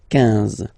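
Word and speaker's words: quinze: Same thing here, U doesn't exist, so 15, 15, 15, alright? IN, nasal, so it's 1, 1, 15, 15, okay?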